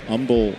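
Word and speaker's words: Humble: Bryce Matthews, the number one prospect for the aasa High School in Umble, Texas. The age is silent and he grounds this foul.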